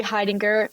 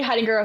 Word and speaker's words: Heidinger: Hidinger. My last name is spelled H E I D I N G E R. It's kind of hard to pronounce, so I understand. Hidinger official for everything.